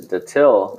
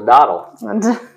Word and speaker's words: Datil: You either pronounce it datil. Datil. Or you say it's a dottle.